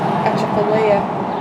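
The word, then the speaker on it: Atchafalaya: Achapalea.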